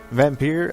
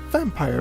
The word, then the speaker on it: Vampyr: back to more vampire vampire as I have finally figured out through my sources that that is the correct pronunciation of the game's name not vampire as I have done for eight freaking episodes anyhow we're gonna jump